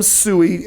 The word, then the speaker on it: Tsui: It's Sam Sui, and that's spelled Tsui as his last name.